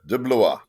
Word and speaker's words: De Blois: How do you pronounce that name? Your last name? Yeah, that's pretty good. De Blois.